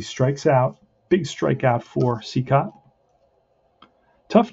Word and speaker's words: Cicotte: it is he strikes out big strikeout for c-cop tough name to pronounce if you just look at straight up how it's uh how it's um spelled right but it's pronounced c cut and um that's two outs first and second